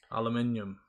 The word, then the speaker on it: aluminium: Aluminium. Lunchly. Americans say aluminum, which I find mental.